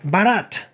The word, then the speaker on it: Bharat: then most recently did a foreign film called Bharat. I believe that's how it's pronounced.